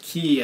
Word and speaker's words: cay: same thing the reason i pronounce it key as in key west is because i read vin russo's book the complete ball constrictor where he claims it the correct pronunciation of cay is in the key and i did a